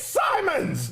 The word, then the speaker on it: Simons: By the way, the next person I hear call him Anthony Simmons, we're gonna fight because I'm really tired. Like it's spelled exactly. It's pronounced exactly how it's spelled.